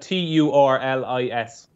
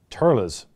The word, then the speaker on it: Thurles: And pronounce it as though it's spelled Turlis. Turles. Yeah. Turles. Turles. Absolutely not that. You just don't pronounce TH at all, though, do you?